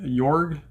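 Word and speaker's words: Jörg: Yorg. I'm pretty sure the J is silence. Just Yorg.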